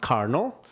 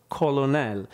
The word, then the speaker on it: colonel: So this is a word that's pronounced carnal, but you really have to learn that this is carnal and not colonel. So a patient with semantic variant PPA may find himself actually pronouncing these words as colonel as opposed to carnal.